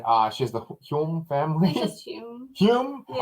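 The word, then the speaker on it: Hulme: she's the hyung family hume yeah i think the l is silent okay so hume juliet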